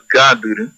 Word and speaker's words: Gadur: Su pronunciación correcta es Gadur.